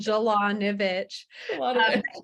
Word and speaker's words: Jalanovic: fancier than it is it's literally just like it's spelled jalanovic everyone tries to make